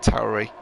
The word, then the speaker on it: Tauri: a word that um looks like it's pronounced tory in english but tauri i guess is the correct italian pronunciation why couldn't they stick